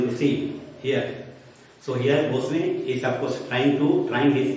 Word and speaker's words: boatswain: So here we have seen that captain, that is master, is ordering officers, boatswain, it is pronounced boatswain, to order, you can say, mariners, sailors to control the ship because the storm is created.